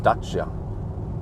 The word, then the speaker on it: Dacia: James May calls in Dacia the Dacia standero yeah yeah there you see a sandero but I think it's supposed to be pronounced dachsha okay this is the